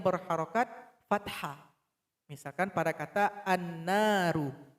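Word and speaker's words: النار: Misalkan pada kata an-naru. Awalnya ru, karena kita berwaqaf menjadi ra sukun. Cara membacanya juga ditebalkan.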